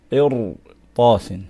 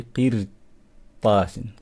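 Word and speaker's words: قرطاس: So we're going to say qir tasin. We're not going to say qir tasin.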